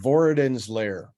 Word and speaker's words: Vorodin's Lair: passed by before i could you have to pronounce it for me that's the title of the book it's called voradin's lair okay so it's uh it's named after a